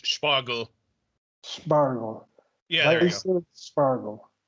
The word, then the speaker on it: Spargel: Spargel. Okay. So if you say Spargel. and then you say that you add like an H sound to the S and say it with the P as one sound.